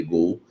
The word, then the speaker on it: Goal: Tiago Fernandes do site Gol né se escreve goal mas é se lê Gol site Gol deu a informação que